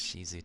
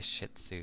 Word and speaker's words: Shih Tzu: You pronounce him as Shizu too. It sounds better that way. Everyone just likes to say Shih Tzu because it's, yeah, it's got shit in the title and it's just like, what a rough name.